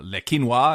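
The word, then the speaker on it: Le Quesnoy: number number one being leino as it's pronounced but um spelled leeso which in incidentally a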